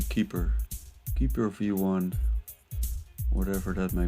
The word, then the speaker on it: KP3R: How do you pronounce it? Keeper. What kind of coin is it anyway? Yeah, it's actually Keeper.